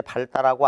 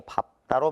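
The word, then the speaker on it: 밟다: 원래 여덟처럼 리을로 발음해야 되는데 발다라고 안 하고 밥다로 발음한다.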